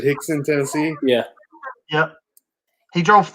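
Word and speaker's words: Hixson: units of hand sanitizer like the guy in Hickson, Tennessee did? I missed out. Okay, that's what I want. I missed the book. I got to pull that up. Yeah. You said Hickson, Tennessee.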